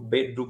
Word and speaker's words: beddu: doppia D appunto mentre Questo è un suono l'occlusion alveolare viene detta tecnicamente sonora e che viene pronunciata appunto D pic ridu beddu beddu e se vogliamo anche